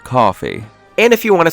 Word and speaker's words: Ko-fi: Daddy, it's pronounced coffee.